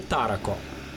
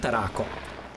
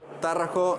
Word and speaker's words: Tarraco: To je Tarraco, ne Tarraco. Tarraco is the right pronunciation.